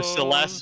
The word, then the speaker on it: Celes: of Final Fantasy, and they do say Celes. And so I'm trying to fix my pronunciation on that. I'm trying to fix my. So Celes is the official one.